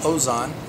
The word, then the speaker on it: HOZON: four days this movie that titled homes on pronounced hos on and it's a simple story about a father